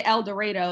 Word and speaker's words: El Dorado: Like for example, there's a city called El Dorado, but it's spelled like El Dorado, like that movie, The Journey to El Dorado. And they say El Dorado and they'll get mad if you say it wrong.